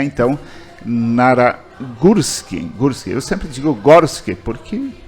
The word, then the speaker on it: Gorski: eu tomei conhecimento que o acentuado tem o som deu entendeu é um acento agudo sonoridade é de gursky então eu faço questão